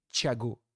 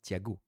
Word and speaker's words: Thiago: Thiago, à prononcer bien sûr avec TCH, Thiago et non Thiago.